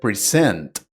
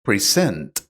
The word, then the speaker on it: present: You need to remember that most two syllable nouns are stressed on the first syllable, and most two syllable verbs are stressed on the second syllable, like present.